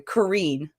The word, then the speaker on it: Karine: the Boston Pride where Corrine Schroeder or I'm sorry Karine because I've been saying it wrong I learned that on